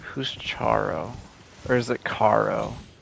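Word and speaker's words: Charon: people to death and it's spelled c h a r o n so I'm going to say Caro the old gravekeepers are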